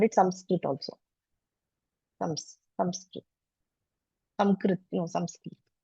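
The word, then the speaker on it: संस्कृत: pronounce they call it Sanskrit okay and some variations they call it samskit also samskit samrit No samski they call it like this which is very close to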